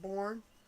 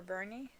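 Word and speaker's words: Boerne: and it was in Burn Texas b-o-e-r-n-e which sounds like born you know or or but the people that pronounce it burn I think or Bernie or Bernie yeah and it was interesting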